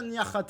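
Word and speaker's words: Niakhaté: classique avec Mata Nihaté parce que ça se prononce niate mais on va l'appeler Niakaté parce que c'est c'est pénible à prononcer comme ça mais ça se prononce bien Niarate les amis faut faut le savoir.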